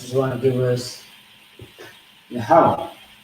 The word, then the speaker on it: Yahweh: You got the ya, which is by itself, Y-A. The ha is by itself, H-A. Then we have the wa and the ha together, which is going to give us W-A-H, no A. The reason being is because the wa and the ha is connected together. Okay?